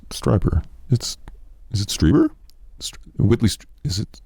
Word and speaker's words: Strieber: If anally probed, I will not pronounce Whitley Strieber correctly." It's Strieber.